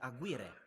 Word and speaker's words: Aguirre: I have a take on it is it Aguirre foreign great okay well one thing I don't